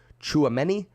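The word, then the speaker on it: Tchouaméni: starting your days mukesh says it's pronounced chuameni listen i'm gonna mispronounce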